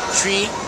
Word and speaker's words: Twi: Followed by Tree, which is spelled T-W-I.